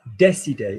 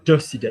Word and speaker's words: décidé: On a décidé, not décidé. Yeah. Listen. Ils ont décidé. You literally said décidé. All right. Give it me again. Voice. Lovely. Sound enthusiastic. Oh my God, they've decided to do that. I want to hear décidé as de, and I want to hear immobilier.